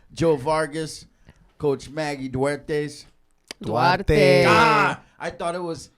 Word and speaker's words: Duarte: Duarte.